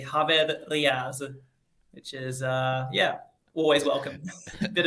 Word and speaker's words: Riaz: Now, did I get Riaz right, or is it Riaz? It's Riaz, but I don't mind exotic pronunciations, however you want to, however you want to call it.